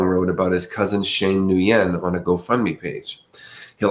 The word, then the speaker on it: Nguyen: This name, I've seen it pronounced Nguyen, Nguyen, but I've also seen it pronounced Win, like W-I-N. So I don't know how you guys pronounce it. But I grew up with the David Nguyen, so that's how it was always said. But as I get older, I see Win said a lot more than Nguyen.